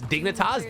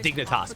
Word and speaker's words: Dignitas: How do you pronounce dignitaras? Dignitas, bro.